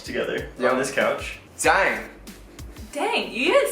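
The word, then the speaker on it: 땡: Dang.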